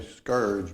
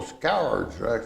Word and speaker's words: scourge: And I came to Scourge, which I always sort of say scourge, but then I thought, well, no, scourge. It's actually kind of get that scour in there.